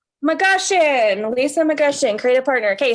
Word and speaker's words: McGushion: It's McGushion. McGushion, Lisa McGushion, creative partner.